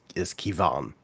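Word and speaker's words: Quivogne: So how it's actually pronounced is Kivan. So basically, because the QUI is pronounced like key. And then the VOGNE is similar to Vaughn or Vaughn. So Kivan.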